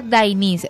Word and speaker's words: Deinais: El segundo nombre de Astrid es Deinais. Se pronuncia Dainis, se escribe Deinais.